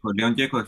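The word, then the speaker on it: León Gieco: How did you pronounce that? Leon. Leon Geko.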